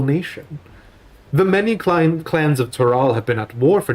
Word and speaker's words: Tural: Tural. Please, feel free to remind me. When we do have definitive pronunciation guides, I'm willing to bend on that.